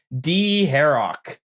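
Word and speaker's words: Dharok: I had a friend, and that's how he pronounced it. And I played RuneScape with a lot growing up, and some of these names just stuck. D-Harrock.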